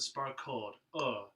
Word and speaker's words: sparkled: So Make sure you're taking care of how you pronounce that second vowel in the word sparkled. Sparkled. And then just a little bit of L there at the very end.